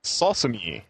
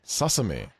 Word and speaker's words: Sosumi: I'm looking at it, trying to think of how to pronounce that. Sosumi. Sosumi.